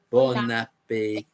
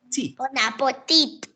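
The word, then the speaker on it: bon appétit: But we don't pronounce the T at the end. It's a silent T at the end. So you say bon appetit. Bon appetit.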